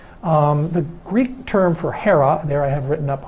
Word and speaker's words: Hera: there in Greek characters has an ADA a row and an alpha Ada as a long e and the H that